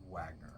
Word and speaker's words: Wagner: Now I'm going to say this correct, Wagner, just regular Wagner. You got it. Great. There's nothing regular about Wagner. Yeah, right. That's what I'm saying. It's just, it sounds the way it's spelled and everything else.